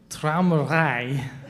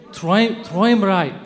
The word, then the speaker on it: Träumerei: That was called Traumrei. Am I saying it right? Does anyone know how to say it and can say it really well? It means daydream, right? Traumrei? Träumerei. Thank you, Träumerei. I always forget that part.